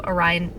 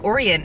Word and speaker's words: Orion: Obviously we know of Orion. I keep on saying Orion, it's Orion. You guys are probably screaming at the screen being like, you're saying it wrong.